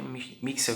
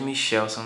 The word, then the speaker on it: Michelson: Porém, né, em 1887, os físicos Mixel, né, acho que é Mixel que se diz, e Morley, tá certo? A gente diz em português Michelson, né? Mas eu já vi a pronúncia de Mixel. Então a gente pode chamar de Michelson, não tem problema.